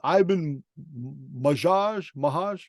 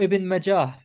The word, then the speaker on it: Ibn Majah: Ibn Mahaj. How you say it? Ibn Majah.